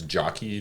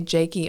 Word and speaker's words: Jackie: Okay, and it's Jockey, Jockey. Yeah. Onassis. Okay. For some reason, people have a hard time. They'll say Jakey Onassis or Jackie Onassis, and it's like, no. Too many syllables.